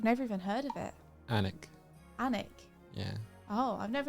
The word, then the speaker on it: Alnwick: I think it's pronounced Anik.